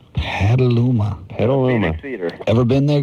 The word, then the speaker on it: Petaluma: How do you pronounce that? Petaluma. Petaluma.